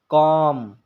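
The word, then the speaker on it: calm: तो वह साइलेंट रहेगा जैसे कॉम सेमन यहां पर आप देख सकते हैं एम से पहले एल आया है इसमें भी एम से पहले ल आया है तो एल साइलेंट हो गया है कॉलम नहीं पढ़ा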